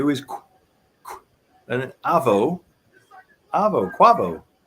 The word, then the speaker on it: Quavo: is and AO AO quavo right isn't that isn't that the name isn't that how you pronounce it it's pronounced Quaver but with an O and not uh quo